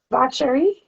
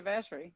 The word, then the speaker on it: Vacherie: where she goes to Vacherie. Where she goes to Vacherie, yeah. Yeah, Uh-huh. I was like, Although that is the French pronunciation, but we would say Vacherie.